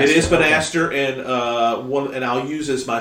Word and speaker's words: Banastre: Is that how it's pronounced, Banastre? Because I was reading it, I was just thinking Bannister. You're right. We'd think that, but no, it is. It is Banastre. It is Banastre, and I'll use as my source for that.